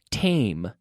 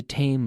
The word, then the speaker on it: tame: so tame tame tame make sure you close your lips with the M tame he's a tame lion man so man so tame we say it's written as Tammy but T AME tame tame bah lumen volume